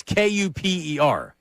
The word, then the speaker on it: Kuper: It's not spelled like Cooper, like hanging with Mr. Cooper or Cooper DeJean. It's Kuper.